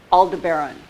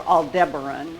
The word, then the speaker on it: Aldebaran: Up here, Aldebaran, or Aldebaran, whichever pronunciation you prefer.